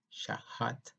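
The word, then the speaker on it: שחת: La palabra destruir en el hebreo es la palabra hebrea 78:43 y significa y se pronuncia shahat.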